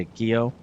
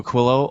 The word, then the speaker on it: Aquilo: I keep want to say a quio because that's how you say it in Spanish and it looks like a Spanish word. just doesn't have two L's.